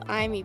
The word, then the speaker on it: Amy: Yeah, so then it's the spelling is Amy, but it's pronounced Imee because I did it for my lore, and I think like I is like it feels like very idly.